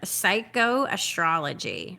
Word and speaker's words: psychoastrology: the first time I've ever heard this word, psychoastrology.